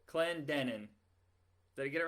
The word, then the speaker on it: Clendenin: It's the second syllable. Clen Clendenin. Clendenin.